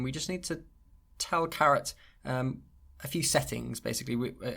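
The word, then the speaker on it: caret: so we're going to install carrot package not spelled like the vegetable and then load it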